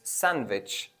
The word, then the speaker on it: sandwich: knowledge and Bridge well the letter D is also silent and some of the words such as sandwich so it's not sandwich it's sandwich or the other word is